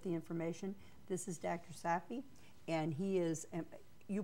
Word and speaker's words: Safvi: Safvi, and he is, you pronounce it. Safvi.